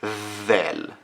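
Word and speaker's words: ذ: top of it and it's Val then it's the sound of the th in the word this so we have two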